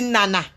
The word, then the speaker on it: Nana: l'illustre journaliste Ernest Obama, qu'on dit Nana. On dit Nana. Ce n'est pas en Ekambeti, on dit Nana. Ce n'est pas Nana. Ce n'est pas un nom bamileke, c'est Nana. La prononciation n'est pas la même.